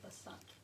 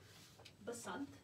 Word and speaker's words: Basant: going to get represented in this book about Basant. So let's say that word together. Basant. It's spelled like this.